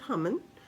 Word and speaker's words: Haman: here we meet haman as some people pronounce it human and actually there's a